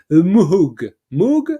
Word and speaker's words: Moog: But yeah, I really I think like a solo or a Moog one, no, a Moog Yeah.